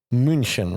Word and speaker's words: München: We found out, and I think I pronounced it right? It was TSV 1860 München, right?